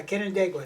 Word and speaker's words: Canandaigua: Yeah, Canandaigua, just like that.